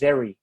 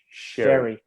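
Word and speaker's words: Xerri: How's it pronounced? Zeri. No, Sherry or Cherry? Sherry Bronson. Sherry.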